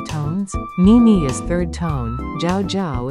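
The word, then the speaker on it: 叫: Ni is third tone, jiao is fourth tone, shen mi xian mi is second tone, mingzi is second and fourth tone.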